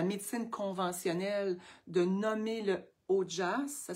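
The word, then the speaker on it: ojas: masser avec les huiles, on vient créer du haut jazz.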